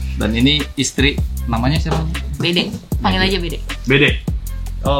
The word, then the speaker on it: Bede: Bede, panggil aja Bede. Bede. Oh, like how you spell it? B-E-D-E, right?